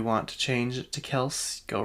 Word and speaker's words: Kelce: Also, did you guys know we're saying his name wrong? Even he says his name wrong. That's not how he's pronounced his last name. It's Kels. But his dad at work, I guess he started this new job, and everyone called him Kelsey, so he just rolled with it.